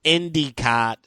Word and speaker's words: Endicott: Johnny born in Endicott, New York if you're in upstate pronounced Indicott uh Hart published his first work in Stars